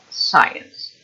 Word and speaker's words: science: second syllable scientific and the subject of studying science is also on the first syllable science we understand yeah then